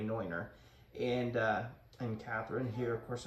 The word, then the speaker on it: Neuner: It's a Neuner Hornsteiner is how it's said in Germany, Neuner.